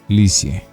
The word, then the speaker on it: Lisieux: vivir a un pueblo llamado lipsius se pronuncia lisieux por eso la llamarán